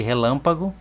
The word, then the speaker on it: relâmpago: Observe que a palavra relâmpago tem o acento circunflexo no lã.